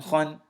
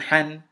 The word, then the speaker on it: حن: حا فتحتان خن. Excuse me, I pronounced it like a kha. That's incorrect. This is حا فتحتان حن، حا كسرتان حن، حا ضمتان حن، حن حن حن.